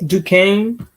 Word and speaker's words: Duquesne: at how you pronounce that I can never pronounce the school's name Duquesne oh my God like yeah previously with West